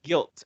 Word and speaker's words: Gylt: um and uh so this game is called guilt and they spell it g-y-l-t it's kind of a